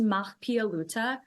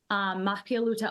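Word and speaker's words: Mahpiya Luta: Mapia Luta School, is that correct? Am I close? Is that the native language? Yes, you are super close. So it's pronounced Mahpialuta. Mahpialuta, Iowa is a Red Cloud school in Lakota.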